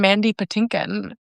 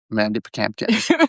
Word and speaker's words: Mandy Patinkin: for one another, and it's the name Mandy Patinkin, which is Mandy Pampkin. And Seth's mispronunciation of that.